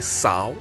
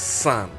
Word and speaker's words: São: language speakers will say Sao but is actually pronounced Sun like s-a-n so bear that in